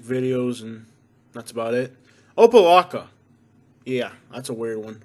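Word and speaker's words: Opa-locka: on rap music videos and that's about it opalaca yeah that's a weird one oppalaca you should probably never have to go there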